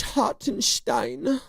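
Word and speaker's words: Hartenstein: Steen. Is it Steen or Stein? It's Hart and Stein.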